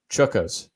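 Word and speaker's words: chukkas: oh i didn't bother to look up the pronunciation of this chuckos that's c-h-u-k-k-a-s and you can't play left-handed can't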